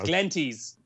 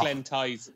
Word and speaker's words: Glenties: It's Glenties, not Glen Tyze.